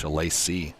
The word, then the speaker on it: Shalacy: Bo Simon let me know that I've been pronouncing Victor's last name wrong the whole time. It's Shalacy. Shalacy.